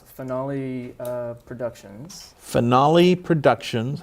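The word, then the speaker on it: Phoenale: there you go yeah P with a p finale Phoenix based off of my daughter's name Phoenix pH is in Frogger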